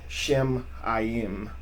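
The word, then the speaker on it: שָׁמַיִם: Shemayim would be actually that's how that's pronounced.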